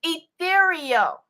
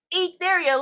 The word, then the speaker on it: Ethereal: name for you lady it's ethereal ethereal like in the ethers above like coming from the Heavenly skies above like from out of